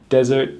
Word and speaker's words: desert: Desert, the big sandy thing, has the stress on the first syllable. Dessert, the big delicious thing, has a stress on the second syllable.